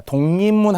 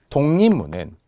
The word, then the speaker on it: 독립문: 세 번이나 변하기 때문에 독립문은 최종 발음 기호를 먼저 잘 생각해 보세요 독립문 되죠 자 세 번 변한다는 것은 기억이 이응으로 변했죠 리을이 니은으로 변했죠 읍도 미음으로 변했죠 동문